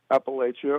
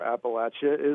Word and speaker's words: Appalachia: So, we we get both pronunciations here. But the reason I say we're in Appalachia or Appalachia is because we obviously are.